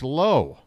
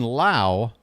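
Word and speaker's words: Lowe: being referred to tonight Josh low not Brandon Lao Josh low spelled the same pronounced different Brandon the second baseman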